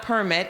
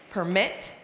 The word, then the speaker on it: permit: So permit, it's not permit, it's permit.